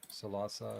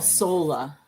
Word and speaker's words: Salsola: Salsa. I'm saying it wrong. Salsola.